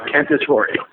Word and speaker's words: Cantatore: how do you say your last name a candidatory and i i assume that's not scottish nope